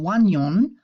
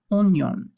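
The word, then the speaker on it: oignon: you're long gone now this word is a little strange because oh I you guys have learned makes a wah sound and yet we're not saying won-young we're saying onion the French language has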